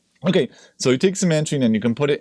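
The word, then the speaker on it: cymantrene: a name to it, which is simantrene, which is just like pronouncing out, it's really funny, simantrene. Right, so that's just from making a word from CMT. Okay, so you take cimantrene and you can put it into almost any solvent.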